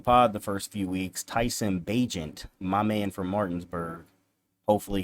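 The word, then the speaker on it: Tyson Bagent: shout out Tyson bajent I was saying his name wrong on the Pod the first few weeks Tyson bajent my man from Martinsburg hopefully he'll be starting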